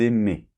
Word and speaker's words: aimaient: Donc par exemple, pour le verbe aimer, j'aimais, tu aimais, il aimait, nous aimions, vous aimiez, ils aimaient. D'accord? A-I-E-N-T se prononce « et ».